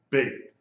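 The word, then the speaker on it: בּ: The letter bait with a degesh is pronounced like a B. B as in boy, bait.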